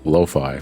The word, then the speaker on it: lo-fi: I think it is pronounced lo-fi, Mako, because you don't pronounce it as Wi-Fi or hi-fi if you go back to like the VHS days. Yeah, you also don't say sci-fi as sci-fi unless it's spelled S-Y-F-Y.